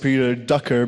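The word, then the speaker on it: Peter Drucker: pretty sure it's pronounced Peter Ducker because it's in English and in English accents you don't really pronounce R so Peter Ducker said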